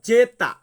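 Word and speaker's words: zeta: ওয়াই জেড জেড কে আমরা Italian ভাষাতে বলবো জেতা জেতা সো ভিউয়ার্স আমি কিন্তু বলেছি যে ইতালিয়ান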